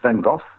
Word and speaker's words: Van Gogh: Yeah, I think in England they used to say Van Gogh, like that's the G-H as a Gogh. In Dutch, it is this horrible guttural G's that we have.